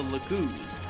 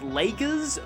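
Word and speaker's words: Laguz: southwest of Crimea Galia is home to the lagoons a race quite unlike Ikon his fellow Bjork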